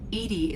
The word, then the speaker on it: EDI: Edy is the phonetic pronunciation of EDI. That is an acronym for enhanced defense intelligence.